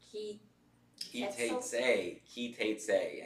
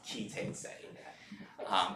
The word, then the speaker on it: Ki Teitzei: Ki Teitzei. And if you're Ashkenazi, you may pronounce it differently, but I'm going to not go with Ashkenazi as normal for today. So we'll just say it's Ki Teitzei.